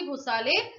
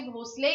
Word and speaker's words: भोसले: have that is Sambhaji भोसाले 1689 वाज the year 11थ March was the date one Sambhaji भोसले या भोसाले जैसा भी आप प्रोनाउंस करें उनका निधन हुआ था